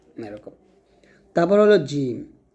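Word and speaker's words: جيم: এরকম তারপর হল জিম জিমটা আপনার যখন উচ্চারণ করবেন জিহবার মধ্যখান তার উপর উপরে তালু সংখ্যা লাগাতে হবে এই জিম উচ্চারণ করার সময় আপনার জিহবাটা যেন কোনভাবে দাঁতের সাথে টাচ না করে এটা একটু সতর্ক থাকবেন তাহলে এটা জিম আর জিম উচ্চারণ করার সময় অবশ্যই একটু টান দিবেন।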